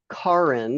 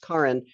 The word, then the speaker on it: Kaaren: in the attendees list spelled k-a-a-r-e-n Karen it's pronounced Karen her and I uh